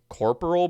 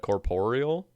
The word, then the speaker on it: corporeal: There was just a Reddit post like last week talking about how people say uh I think they say corporal beast instead of corporeal.